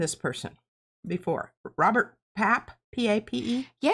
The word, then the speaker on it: Pape: The University of Chicago's Robert Pape. I don't know how you say it. I would say PA because it has an E.